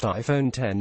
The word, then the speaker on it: iPhone X: Cupertino Apple unveil the iPhone X pronounced iPhone 10 it's eye watering the